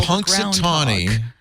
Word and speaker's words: Punxsutawney Phil: How do you pronounce the full name of Phil Punxsutawney.